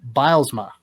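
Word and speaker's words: Bylsma: were playing out of charlotte last season dan bilesma did i pronounce that right that's correct okay see i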